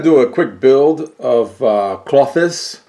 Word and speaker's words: Klothys: a quick build of cloth this cloth this is how it's pronounced for selection - and